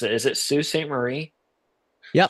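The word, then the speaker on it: Sault Ste. Marie: How do you pronounce it? Is it Sue St. Marie?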